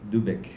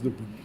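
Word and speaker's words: De Boeck: publié en 2006 chez Debec. Debouc. Voilà. Ça se prononce Debouc.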